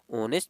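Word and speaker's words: honest: इसमें क्या पढ़ते हैं आप ऑनेस्ट पढ़ते हैं तो एच क्या होता है इसमें एच बताइए एच साइलेंट होता है ठीक है ए साइलेंट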